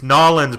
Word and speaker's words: New Orleans: your big rise says everything so phonetically New Orleans it's like he says Colonel is : el it's nollans bro how many times I